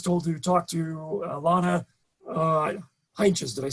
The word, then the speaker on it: Heintjes: And so I was told to talk to Lana Heintjes.